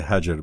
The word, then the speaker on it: Hagar: It's Hagar or Hagar or... I say Hajar, but that's Arabic. That's Arabic. So I think I've always heard Hagar. Hagar is common.